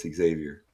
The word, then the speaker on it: Xavier: It's not Javier. It's Xavier. Yeah, he knows. He's just messing with me. What? I'm trying to stay legit to my roots. We don't pronounce X's. Up We pronounce X's as your roots. Bitch, you're whiter than I am. What are you talking about? Well, Javier is with a J. Xavier is with an X. It's actually Xavier.